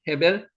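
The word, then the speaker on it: הֶבֶל: 에가 의문 부사라고 말씀드렸고 헤벨 아벨을 헤벨이라고 발음합니다. 헤벨 아이카 내 아우 카가 너라는 뜻이거든요.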